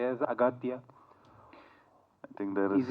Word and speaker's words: Aghathiyaa: only no it is aatya but in the film uh your name is pronounced in different ways austa yeah in both ways it is pronounced yeah it's aatya and also austa so I don't know